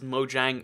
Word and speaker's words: Mojang: He confirms that, yeah, it is Mojang. Mojang is the correct pronunciation, because that's how the people, the majority work there now, who are Americans, actually say it, which is interesting to me.